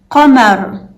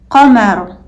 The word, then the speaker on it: قمر: قمر, قمر, meaning moon. So there you go. Now you know how to pronounce GHAIN, AIN, and Qaf.